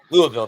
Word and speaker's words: Louisville: it's a lot in in Louisville or Louisville Louisville that's how you pronounce that correctly you're from um I